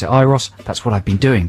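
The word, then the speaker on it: Euros: on the weekend and it said in Brackets pronounced iros e ye e- r o iros so I've been thinking right good the definitive answer I'll pronounce it iros that's what I've been doing but then uh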